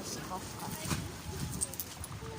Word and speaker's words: Осиповка: Я уже запомнил, как правильно говорить. Осиповка. Вот так. Осиповка.